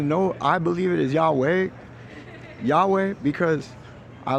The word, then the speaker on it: Yahweh: and the real pronunciation real pronunciation of Yahweh is uh not Jehovah it is Yahweh or it is the YH wh however you might uh vow that out and uh that's important